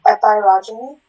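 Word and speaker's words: epeirogeny: Epirogyny.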